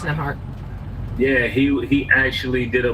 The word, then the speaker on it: Nembhard: Yeah, it's Nembhard.